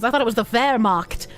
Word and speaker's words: Wehrmacht: Because I thought it was the Wehrmacht, not the Wehrmacht. German W is pronounced as V, so Wehrmacht, not Wehrmacht.